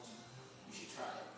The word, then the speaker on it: ghee: It's called ghee. You should try it. It's called ghee. It's spelled G H E E and it's called G. Yes.